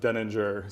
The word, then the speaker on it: Denninger: pronunciation of this because I've heard deninger you go deninger it's my last name and I've always said deninger so I don't know